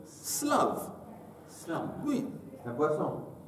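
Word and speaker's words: שלו: Alors, si c'est écrit avec un shin, on pourrait dire shlav. Oui. Mais on le prononce avec un samer slav.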